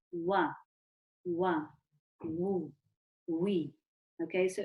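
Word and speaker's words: و: Okay, so the woe is pronounced by the circle of the lips.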